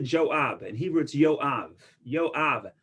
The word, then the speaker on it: Joab: you also know what job is that we pronounce it joab and he wrote yo